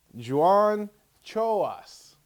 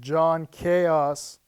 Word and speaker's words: John Chaos: his hit film blood kill so please welcome Joan choas John John it's a hey how's it going